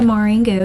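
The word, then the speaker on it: Maureen Goo: It's Throwback by Maureen Gu.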